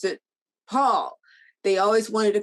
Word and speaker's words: Paule: people to pronounce it paul they always wanted to call it paulie or paula and she said no it's paul like a man and that's what i'm